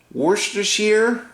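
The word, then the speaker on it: Worcestershire: I'm going to do my favorite thing to pronounce Worster sheer I think Worster Shear Worster Shear sauce which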